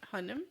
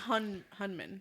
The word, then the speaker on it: Hunnam: Charlie Hunnam? Yeah, Hunnam. It's not Hunman. It's Well, it's Hunnan. Hunnan. Oh, so it's Hunnan.